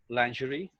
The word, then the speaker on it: lingerie: know and lingerie they're the only twist is over here the sound is it is the sound which is in measured pleasure yeah that should be